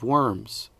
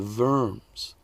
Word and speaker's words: Worms: the German city of Worms. Whoops, I forgot to say in German, where a W is pronounced like a V. So, it's the city of Verms.